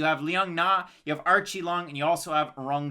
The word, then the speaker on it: Aoriqileng: yep you got it so it's archie long archie long not ayori ki lang it's r chi long if you're going to with the pronunciation and he's coming out